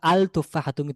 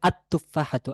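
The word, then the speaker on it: التفاحة: তুফফাহাতুন হওয়ার কথা ছিল আল তুফাহাতু না আল হবে না হবে আতুফাহাতু আততুফাহাতু তাহলে লামটি তার তার পরবর্তী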